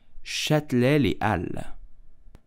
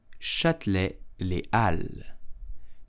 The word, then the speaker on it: Châtelet-Les Halles: You will simply say Châtelet-Les Halles. Châtelet-Les Halles. Châtelet-Les Halles. In French, the H is totally silent and the S of Halles is also silent.